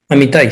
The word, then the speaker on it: Amitai: fundador y global CEO de Amitai, ¿así se pronuncia Amitai? Amitai, sí.